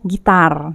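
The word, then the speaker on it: ギター: Selanjutnya ada gitar. Nah, gitar itu dalam bahasa Jepang adalah gita ya, panjang di belakangnya.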